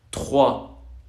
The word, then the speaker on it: trois: Al momento de poner esta R de Kiko que llora, enfrente de una T se hace una J. Trois. Esto es como una J, ¿ok? ¿Por qué se convierte en J? Pues porque lo pronunciamos en la misma parte en la que pronunciamos la R. Uno es con voz y vibración y la otra es sorda sin voz.